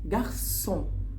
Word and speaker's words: garçon: طب هتقول لي دلوقتي، طب السي احنا اتفقنا لو السي قدامها او بتتنطق كو. كو السي بتتنطق لتر كا، بتتنطق كو. ليه بقى؟ اقول لك عشان هنا السي تحتيها ثلاثة كده، حرف الثلاثة بنسميها في اللغة الفرنسية سي سي دي. سي سي دي بتتنطق ايه؟ السي اهي بتتنطق اس اس. فناخد بالنا قوي قوي لو جات لنا اي كلمه فيها السي سي دي بتنطق اس اس عادي.